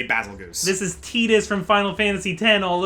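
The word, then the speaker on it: Tidus: And yeah, by the way guys, it is Tetus. As a matter of fact, even though for some even though it's like spelled Titus, it it is Tetus apparently.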